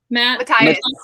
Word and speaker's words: Matthias: Matthias.